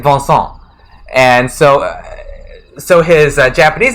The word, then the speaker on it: Vincent: Vincent and Su 2 Vincent is vonsan because he also has a French name which is like bons again sorry to all your French speakers I can't pronounce French stuff right but it's like it's like vonson and so so his